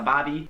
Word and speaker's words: barbie: This one should probably have been higher up on the list, but that is a Bobby, spelled like Barbie, but Yeah. not that Barbie.